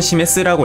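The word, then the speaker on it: 示す: 혼독은 시메스라고 읽고 가리키다, 보여주다 라는 의미를 지닙니다.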